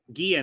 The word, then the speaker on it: Guia: no, Richard Guia. No, he was here in the previous two book clubs. Richard, are you there? Hi. Guia, no? I pronounce it correctly, no?